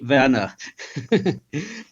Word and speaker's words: Werner: The easiest pronunciation is just to say Werner. Werner, okay.